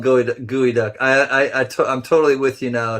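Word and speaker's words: geoduck: Pronounced gooey duck. Yep. not how it would, not phonetically how it would sound.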